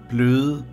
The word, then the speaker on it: bløde: This sentence is pronounced bløde, blege, bøgeblade.